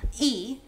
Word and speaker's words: ㄝ: Uh, next we have e, which is also an e in pinging, sometimes distinguished by italicizing it or adding a carrot on top. So for this sound, think of Homer Simpson saying me.